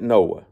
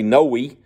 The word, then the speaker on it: Noah: that is Noah and uh phonetically you can pronounce it Noah okay we would say no unless you're from Mississippi and that's your last name then they all say Noy but no Noah but